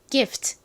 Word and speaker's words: gift: 소리가 나나요 소리가 나죠 F 가장 앞에 있을 때는에서 발음을 했던 것처럼 세게 발음이납니다 하지만 가장 앞이 아니라 요렇게 끝부분에 껴 있을 때는요 약하게 바람 빠지는 소리가나요 마지막 끝에는 여기서 시옷 받침으로 이렇게 기 이렇게 들어가는 것이 아니라 트 소리로 표기합니다 트 그래서 읽어 보면요 gift